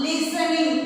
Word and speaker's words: listening: I am listening. That is correct. You write listening in this space. L-I-S-T-E-N-I-N-G. Listening. L-I-S-T-E-N-I-N-G. L-I-S-T-E-N-I-N-G. Listening. The T is silent. It is not pronounced.